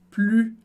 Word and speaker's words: plus: Super interessante, se escreve da mesmíssima maneira, mas em francês a gente não pronuncia o S do final, você já sabe lá da palavra tu changes, e o U sozinho na sílaba sempre vai ter som de U, como na palavra tu. De novo, a gente viu